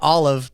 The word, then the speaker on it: OLLIV: buy Bitcoin you heard that right I said Olive because today we are talking to a gentleman